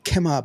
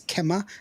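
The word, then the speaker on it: Kemah: we'll be over there kemma Boardwalk there in your area kemma kemma Boardwalk Kima Boardwalk it's Kema because it's actually uh an indigenous word but it's okay because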